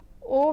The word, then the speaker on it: aux: plus le contracts to o with an x. Both AU and AUX have the same pronunciation, but AU precedes a singular noun while AUX precedes a plural noun.